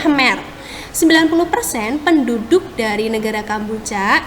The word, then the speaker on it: Khmer: 90% penduduknya itu adalah orang Khmer ya bacanya Mr 90% penduduk dari negara